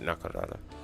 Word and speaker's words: Nakarada: Yep, I pronounced it right, Nakarada.